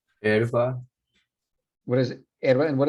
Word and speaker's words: hierba: Entonces hay una regla en el español que indica que ninguna sílaba pueda empezar con S más consonante. Muy bien, número 19. Herba. Hierba.